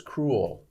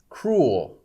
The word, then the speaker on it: cruel: you can say cruel some people say two syllables cruel and some people just say a single syllable cruel like y l u